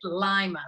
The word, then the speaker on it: Lima: and a lives in Lima Peru and I had to be careful saying that because in Ohio we pronounce it Lima but it doesn't leave